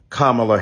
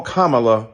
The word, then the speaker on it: Kamala: to the congresswoman who insisted upon misnaming mispronouncing kamla Harris do you call Melania Melania do you call Ivanka Ivanka then call Kamala Kamala then call vice president